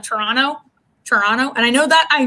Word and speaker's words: Toronto: supposed to be said that's how you cities say toronto right like you should pronounce the t's that are there and